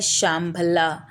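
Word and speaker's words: शम्भल: आप कह सकते हैं कि ये एक तरह का शांग्री-ला था, जिसका सही उच्चारण है शामभल्ला, या यह संबलपुर है।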